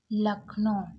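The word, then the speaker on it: Lucknow: लखनऊ यहां पर देखि लखनो पढ़ा जाता है इसको अब यहां पर देखिए एल यू लक यहां पर यू साइलेंट है सी के को का पड़ा और एन ओ ओ डब्लू को ओ पड़े यानी कि लखनऊ उत्तर प्रदेश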